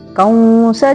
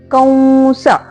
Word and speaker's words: ಕಂಸ: ಮುಂದಿನ ಚರಣದಲ್ಲಿ ಕಂಸ ಚಾಣೂರಮರ್ಧನಂ ಕೌಂಸ ಇಲ್ಲಿ ಸಹ ಕಂಸ ಅಲ್ಲ ಕಂಸ ಕಂಸ ಅಂತ ಹೇಳಿಬಿಟ್ಟು ಉಚ್ಚಾರಣೆ ಮಾಡಬೇಕು ಅನುನಾಸಿಕ ವ ಅಂದರೆ ಮೂಗಿನಿಂದ ವದ ಉಚ್ಚಾರಣೆ ಹೇಳಬೇಕು ಕಂಸ ಚಾಣೂರಮರ್ಧನಂ ಇಲ್ಲಿ ಮರ್ಧನಂ